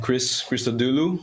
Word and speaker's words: Chris Christodoulou: Okay, so I'm Chris Christodoulou. I mentioned it since a lot of people have problem pronouncing it.